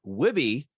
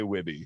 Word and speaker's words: Wihbey: would say Wabi but if you're a Canadian American you're just gonna say wibby so um that's that's